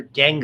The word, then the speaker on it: dengue: Yellow fever, dengue is the way you pronounce that, by the way.